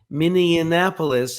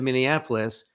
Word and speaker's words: Minneapolis: and said yeah I think it's nine he mispronounces names in places with some regularity charlott town instead of Charlottesville miniapolis instead of Minneapolis the website snoops instead of Snopes Leon musk